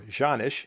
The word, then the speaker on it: Canik: do an evaluation on this Canik," or Janisch, if you prefer that pronunciation.